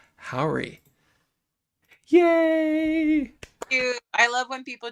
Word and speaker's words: Jauregui: Everyone, please put your hands together for Yahara Howry.